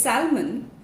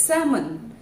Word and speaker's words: salmon: So if you have been pronouncing it as salmon, it is incorrect. The right pronunciation, as you can see on the screen as well, is salmon, salmon. Just as L was silent